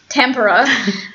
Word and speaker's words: Tampere: And we got train tickets to go to Tampere, which the American pronunciation is Tampere, and I always mispronounce it in Finnish.